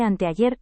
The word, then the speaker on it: anteayer: Mamá, no se dice antiar, se dice anteayer.